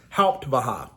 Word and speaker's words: Hauptwache: The station was called the Hauptwache, spelled Hauptwache, but pronounced Hauptwache.